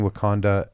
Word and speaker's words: Wakanda: saying it right yes it does everybody in Wakanda know that you are the Black Panther as